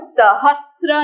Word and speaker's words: सहस्र: हम इसे विष्णु सहस्त्र नहीं बोलेंगे। सही उच्चारण है सहस्त्र। एस आर ए स भाई बंदी र के साथ श्र।